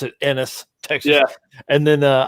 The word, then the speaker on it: Ennis: enos without the p i think texans uh pronounce it ennis texas yeah and then uh i think we